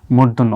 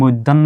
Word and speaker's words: মূর্ধন্য: মূর্ধন্য হয় যেমন আসলে আমরা এটাকে কি বলি মূর্ধন্য অনেকে কিন্তু মৈধন্য বলে আসলে কি বাংলা ভাষায় মৈধন্য বলতে কোন শব্দ নাই এটা হচ্ছে ন আর